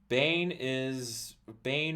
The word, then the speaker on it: Bane: Bane rhymes with pain.